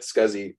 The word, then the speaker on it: SCSI: They were like, it was supposed to be sexy, but it never stuck. Yeah. And so, but Scuzzy did for some reason.